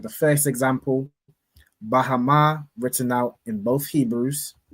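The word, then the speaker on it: בהמה: Now, Ayala, could you tell us how we would pronounce this first word in the Hebrew? Beasts. Khan. Bahama.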